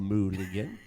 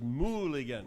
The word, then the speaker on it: Mulligan: I said, Marisol, how do you say your name? She said, Marisol Mulligan. So I knew right there it was Mulligan.